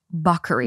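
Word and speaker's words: Bacari: but it's pronounced buckery.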